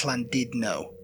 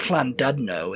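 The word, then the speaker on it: Llandudno: Well, actually that fllandidno, I think, is is how they pronounce it. Even though there's a u there's a u in it. Yeah. They go, "Oh, it's Flandidno." Yeah. And I'm like, "It's not Flando. It's Flandidno."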